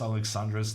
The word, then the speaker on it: Alexandra: too wrong though because even though like the American way is always going to be like Alex Alexandra uh they're Romanian and uh you can tell from basically when Alexandra pronounces Andrea's name her pronunciation is way closer to Norwegian than it is to American and so I think the ranian way of saying Alexandra is is always going to be quite close to the other European countries